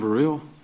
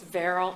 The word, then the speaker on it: Verrell: Varil, Georgia Innocence Project. And I may have mispronounced your name. It's Verl. It's Verl.